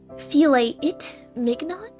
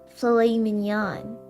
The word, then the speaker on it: filet mignon: The Grinch studies the menu and says to Martha, "I think I'll have the filet-it mignon." That's pronounced filet mignon.